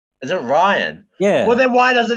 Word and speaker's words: Rian: How do you pronounce his Ryan? Name? Is it Ryan?